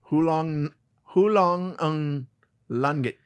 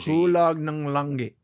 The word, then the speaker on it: Hulog ng langit: Hulong ng langit. And we're canceled. No, that's Tagalog. Hulong. It's Tagalog. Hulong nung. The NG is tough. For our listeners, it's N. It's Hulog space NG. Hulog ng langit.